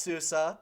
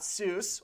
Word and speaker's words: SUSE: in suse also yes it's pronounced susa not seuss or susie if you say it